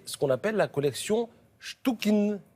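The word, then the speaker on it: Chtchoukine: qu'on appelle la collection stouin ou chukin très difficile à prononcer c t ch o u K i n ce monsieur est né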